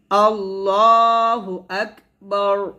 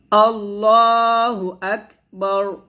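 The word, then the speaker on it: اللّٰهُ أَكْبَر: তাহলে আমরা সুন্দর করে এই তাকবীরের তাহরিমাটা বলবো আল্লাহু আকবার এভাবে এখানে আল্লাহ হবে লটা মোটো হবে আল্লাহু আক এখানে হামস উচ্চারণ করতে হবে আল্লাহু আকবার এভাবে আমরা সুন্দর করে তাকবীরটা দিব আবার আমার সাথে পড়েন আল্লাহু আকবার এভাবে তারপর আমরা হাত বাঁধি হাত বাঁধার পর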